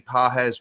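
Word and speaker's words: Pages: Uh, so far through his first 30 games, Andy Pahz, which is spelled um, P A G S if you're not familiar with him.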